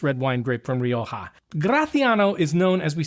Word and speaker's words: Graciano: This week we are exploring a wine that is totally new for you and me called Graatiano. And yes, that is the correct way to pronounce the wine.